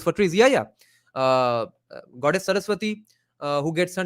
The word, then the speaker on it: Saraswati: That's how important the river Saraswati was, and that's how the river's name became Saraswati. In Bengali, we would pronounce it as Shoroshboti.